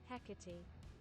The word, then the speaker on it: Hecate: pronunciations of it too this is the british pronunciation hecate hecate equity there's like a d in there instead of a t weirdly enough hecate hecate